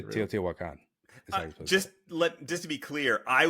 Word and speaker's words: Teotihuacan: And then they actually, spelled this out like phonetically, and then it says it's Teotihuacan.